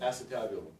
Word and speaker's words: acetabulum: Acetabulum? Acetabulum, yes. Spelled with an A-C-E, tabulum.